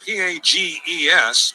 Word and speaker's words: Pages: It's spelled P-A-G-E-S, but we were told before the game he pronounces it Pages.